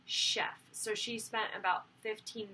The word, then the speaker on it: chef: broke it down into, this is a French word that it looks like it says chef, and a lot of the students wanted to pronounce it chef, but it's really chef.